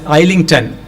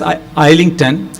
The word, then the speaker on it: Islington: pronounce like that but in India we generally pronounce it as I link 10 because the spelling is like that Isla and